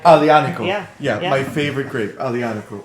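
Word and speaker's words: Aglianico: Yeah, so that's the Boca Alianico di Lupo and too. My favorite grape. Wait, you need to. So the G is silent, right? So Alianico. Alianico.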